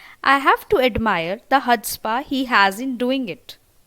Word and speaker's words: chutzpah: Next word comes chutzpah. That means extreme self-confidence. In this word chutzpah, C is silent. So kindly read it properly. That it's chutzpah. For example, I have to admire the chutzpah he has in doing it.